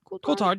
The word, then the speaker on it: Coulthard: They'll all be joined on the program by guests from World Racing, Dave Coulthard, Coulthard, yeah.